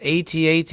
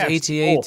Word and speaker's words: AT-AT: I always thought it was AT-AT. It can be both. It can be both. Yeah, it can be. AT-AT. If you're in the military, it's AT-AT because they always pronounce their acronyms.